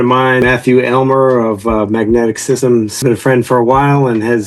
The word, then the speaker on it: MAGNTK: I'm currently CEO of Magnetic Systems, and that's spelled funny. M A G N TK.